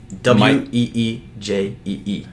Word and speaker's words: Ouija: WEEJEE. No. Yeah. Yeah. That's how you pronounce it.